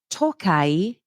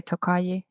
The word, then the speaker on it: Tokaji: Okay, and next up, Tokai. Is that how you would pronounce it? Tokai? Yeah, I think I'd say Tokaji.